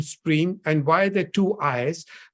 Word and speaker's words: Striim: Who came up with the name Stream, and why the two I's? Because every time I tell people about Stream, I'm like, it's STRIIM pronounced as Stream.